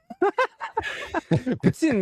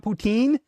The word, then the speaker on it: Putin: Putin, man. Putin, not not poutine. It's not poutine. Tin t i nin.